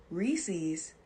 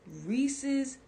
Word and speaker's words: Reese's: It's supposed to be Reese's Pieces. Mm-hmm. You don't add an apostrophe S to the name Reese and start saying Reese's. Reese's Pieces?